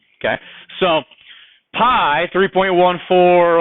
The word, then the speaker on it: pi: sometimes they're pie okay so pie now it's not spelled the same way but an exist so examples of this so an example of this would be pi which we spell p i okay now most i